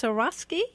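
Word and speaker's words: Swarovski: got very upscale sauce is it pronounced zorroski yeah because I play barefoot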